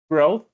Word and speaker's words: growth: Remember the th sound at the end, growth, Graph.